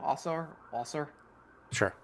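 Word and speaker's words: Ausar: How do you pronounce his first name? Our Sure.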